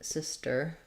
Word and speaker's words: sister: We don't really strongly say this T sound, not like sister. It gets a little bit muted. It's not exactly a flap either. It's part of the ST blend, sister, sister. So just don't let a big puff of air out for your T, sister. If it helps to think about it like a D, that's fine. It's just not strongly a D either.